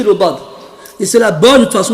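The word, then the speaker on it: ض: Et si vous écoutez comment ils disent le dad, ça ressemble au dha.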